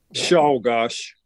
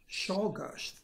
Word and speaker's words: Czolgosz: How does he pronounce his name? Leon? Czolgosz. Czolgosz.